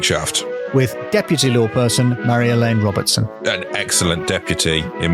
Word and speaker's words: Marjolein: and I still have new stories every and Mar elain is spelled m a r j o l e